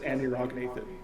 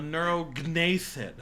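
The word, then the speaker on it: anurognathid: I believe he would No, probably there's no- pronounce it Anirognathan. It's G. The G's silent in Nathan. Like Compsognathus. But I hear the G when you say that. You said Compsognathus, not Compsognathus. A neurognathid.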